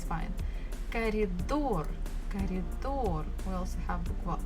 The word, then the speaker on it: коридор: Коридор. Коридor. We also have bukva O and bukva R. Коридор. Stress falls on the final syllable or door.